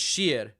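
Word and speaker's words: شیر: Iran, how do you say lion in far lion in far? I think it's sheer.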